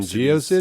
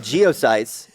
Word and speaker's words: GeoCities: Did people actually call it GeoCities? I'd never heard that. I think. I did. I think you just apparently. mispronounced it. It's fine. I think I don't care. It's old. I called it. It's fucking irrelevant. I called it geosites.